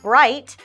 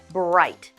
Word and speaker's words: bright: And when we use GH in this word bright, we pronounce it like I-T-E, bright.